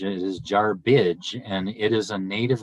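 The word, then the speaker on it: Jarbidge: of the this is a name that is butchered the most in nevada it is not jar bridge it is jar bridge and it is a native american derived name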